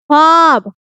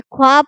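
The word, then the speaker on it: خواب: मादुला बोला है कि वो वाव जो लिखने में तो आता है लेकिन पढ़ने में बिल्कुल खामोश हो जाता है, मतलब साइलेंट हो जाता है।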